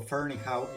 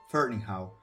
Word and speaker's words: Ferneyhough: Y si se preguntan por qué digo Ferneyhough y no Ferneyhough, Ferneyhough o cualquier otra variación, es porque le pregunté personalmente cómo pronunciaba él su nombre y me dijo Ferneyhough.